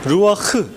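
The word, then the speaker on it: רוח: 히브리어는 크라고 돼 있는데 루흐 뭐 이런 우리 발음에 없는 발음이 흐 그 독일어의 발음 있잖아요 이할 때 하는 건 뭐 그 발음이에요 근데 이거를 한글로 표기가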